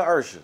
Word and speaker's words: Usher: you had to actually sing it it won't mispronounce it it's still Usher it all depends on where you are yeah